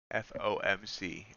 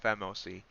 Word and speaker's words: FOMC: to give wrong information f o m c f o m c i always say it wrong i say it fmoc yeah 15th so last